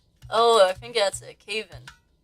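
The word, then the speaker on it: Kavin: Oh, is it Kevin? Calvin? Am I mispronouncing it? Caven? Oh, I think that's it. Caven.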